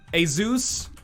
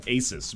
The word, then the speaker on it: ASUS: ] what is this a zeus and i think that's actually how it's pronounced i used to call it asus but then people are